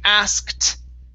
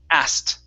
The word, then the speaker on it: asked: next one here is asked okay so this word is special we get to take out the k so instead of saying asked okay we say ass and then a t sound asked asked just like that